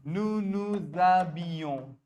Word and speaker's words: nous nous habillons: nu nuzabilo Nous nous habillons.